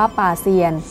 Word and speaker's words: โป๊ยเซียน: ตัว เอง และ ครอบครัว โป๊ยเซียน ออก เสียง ว่า ป่า เซียน คือ เซียน 8 องค์